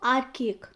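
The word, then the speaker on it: archaic: आर्केक। Okay, आपका pronunciation भी बहुत ज़रूरी है, इसलिए मैं बहुत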